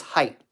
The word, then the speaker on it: height: lob height or depth I don't think I'm supposed to pronounce the T I think it's height height or depth which